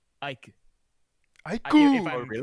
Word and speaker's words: Ike: it's Aikuru. You're right. You're right. Aiku, not aikuru.